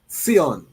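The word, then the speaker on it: Tsion: So we want to call it Seion, you know, which is the Ethiopian Zion. It's spelled T S I N.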